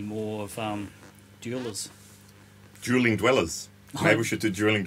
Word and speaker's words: Dweller: pedal this is the jeweler from old blood noise endeavors is it jeweler or dweller dweller sorry dweller it's a w man i even knew it was dweller and i said it wrong yeah so that guy